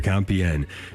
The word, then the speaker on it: Compiègne: Jim Havens here, talking with author Jonathan Michael O'Brien today, and his book called to Compiègne, getting the pronunciation right here, Compiègne.